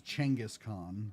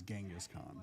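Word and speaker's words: Genghis Khan: Angus Khan or that to be they pronounce it more as Changaskhan but in the west we know it as Genghaskhan.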